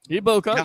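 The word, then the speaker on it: Egbuka: Where they had to pay attention to Mike Evans and that opened the door for uh uh Ibuka. Am I pronouncing it right? Iboka.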